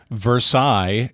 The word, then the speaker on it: Versailles: So the trick with the French words is anytime you see that double L's followed by a few vowels, it's almost always going to be a shortened, cut-off version. You're never going to pronounce the L's.